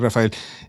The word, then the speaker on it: Rafael: lines was like uh they say my name's Rafael like something right I kind of said it like but my name is Raphael Raphael but my name is Rafael something simple but it